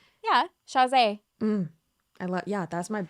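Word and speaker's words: Chasez: wait, no, not Chavez. Shaz. How do you say his last name? Yeah, Shazay.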